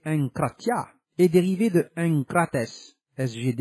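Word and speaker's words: ἐγκράτεια: Le mot enkrateia, SGD 1466, prononcé enkratia, est dérivé de enkrates, SGD 1468, prononcé enkrates, qui signifie être fort dans une chose ou en maîtrise.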